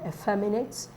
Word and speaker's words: effeminate: so this is um effeminate words that end with um at yes are usually stressed on the second cable the second syllable from the front that's a fair minute